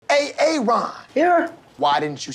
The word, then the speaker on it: Aaron: a a Ron here why didn't you say it the first time I said a a Ron because it's pronounced Aaron you're done messed up